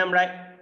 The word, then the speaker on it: a: আ উচ্চারণ করি আসলে যখন এই লেটার এ একা থাকবে অর্থাৎ আর্টিকেল হিসেবে ব্যবহার হবে তখন তার উচ্চারণ হবে আ ঠিক আছে তো এই